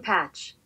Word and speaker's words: Pache: How to pronounce Christian Pache. Christian Patch.